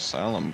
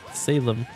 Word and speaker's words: Salem: a new town of salum game damn it Eevee I told you how to pronounce it sal sal Sigma got it right Salem you know where the